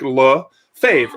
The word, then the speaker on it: Lefebvre: It's kind of like he's like Lefebvre, F-A-V-E. It's easy as that.